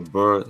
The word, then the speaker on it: BRRRR: few minutes is called the Burr strategy and that's Bur is spelled B R R B is B R. So no vowels just all consonants B R.